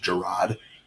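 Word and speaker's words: Jerod: He's like, it's actually pronounced Gerard, so it's Gerard Mayo. I was like, Jared Mayo.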